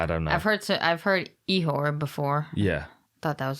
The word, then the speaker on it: Ihor: And then we've got Ihor. Yes. Potieria. Yes. Potieria. I feel like I'm just saying yes. I don't know if that's actually correct. Yeah, I don't know. I've heard Ihor before.